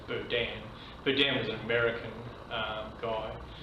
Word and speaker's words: Berdan: Now, the reason that there is these two types of cases, I think it's actually pronounced, I say Berdan, I think it's actually pronounced Berdan.